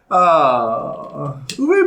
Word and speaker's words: Uwe: It's pronounced Uwe. It is Uwe?